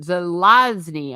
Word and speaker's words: Zelazny: Yeah, yeah, I've not read any of the Cosmere, but have heard that there's been some disappointment, and apparently I did mispronounce it. Zelazny.